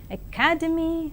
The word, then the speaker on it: academy: I know that you have read these words as dynamic, academy, academic, but now I would say that these words are pronounced as dynamic, academy, and academic.